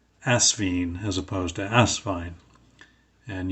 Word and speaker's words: Asvine: name is pronounced but if you want to know it is asvine not asvine uh guess it doesn't